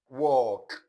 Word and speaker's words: walk: So let's look at the silent L, that is, you not pronounce the sound in these words. So, palm, bam, sam, walk, talk, stalk, yoke, should, could, would, folk, and so on.